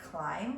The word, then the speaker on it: climb: you might notice some words that have our lazy or silent letters like climb which has the spelling MD and scientists which has